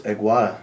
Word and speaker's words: Agwada: Mitchell Bell, and we have here in the studio Agwada. Am I saying it pronouncing your name correctly?